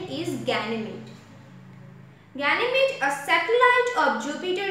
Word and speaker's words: Ganymede: It's Ganymede. The pronunciation is Ganymede.